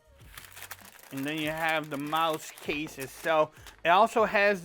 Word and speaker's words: Mous: you have a little logo there Mouse it's not pronounced moose but you can see